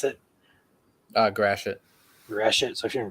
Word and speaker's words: Gratiot: in what county is this is this uh gradient gradient how do you pronounce it uh Gratiot gratient so if you're in Gratiot County that's